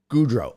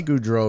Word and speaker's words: Gaudreau: How do you pronounce it, Mark? Gaudreau.